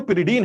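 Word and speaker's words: pyridine: पिरिडीन कहते हैं, कुछ लोग पारिडीन भी बोलते हैं, तो दिस इज पिरिडीन नाम।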